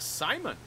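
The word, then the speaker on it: Psimon: Simon. The P is silent.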